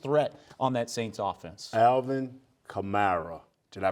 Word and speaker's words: Alvin Kamara: Alvin Kamara. Did I pronounce that right? Yes, you did. I said Kamara place. Kamara.